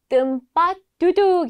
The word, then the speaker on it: tempat duduk: " 좌석 " 이라는 단어 를 어떻게 발음 하나 요 ? ' 템 팟 두둑 ' 으로 표현 된다 . 우리 모두 함께 외쳐 봅시다 . Saya ingin pesan tempat duduk .